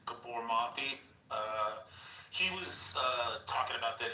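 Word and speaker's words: Gabor Maté: So like if you listen to like, I think his name is pronounced like Gabormati.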